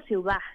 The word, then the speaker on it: CIUDHAD: título completo del centro, así que simplemente digo ciudad, y entre medio tiene Eso.